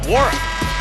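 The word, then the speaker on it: Nwora: Well, how about the surge from Jordan Wara? Yeah, get used to hearing this name all season long. Jersey number 33 with the 3 ball. The end is silent.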